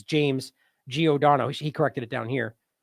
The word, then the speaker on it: Giordano: So here is, and he got the name wrong in this. It's James Giordano.